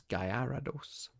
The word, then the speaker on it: Gyarados: Is that not how you spell it? Goldeen. Gyarados? Oh, it's Gyarados.